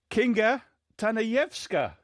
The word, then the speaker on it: Kinga Tanajewska: Yeah, we've got Kinga Tanajewska. How's that pronunciation?